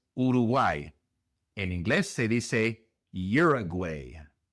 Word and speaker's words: Uruguay: En inglés se dice Uruguay. Uruguay. La u al principio se pronuncia como y y r year.